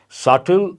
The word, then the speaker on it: subtle: use this quite often subtle here the letter B is silent subtle mild ornate goes more